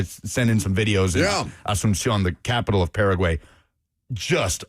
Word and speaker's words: Asunción: Say it again, Lucas. Asunción. Absumción. Close enough. Did you throw a B in there?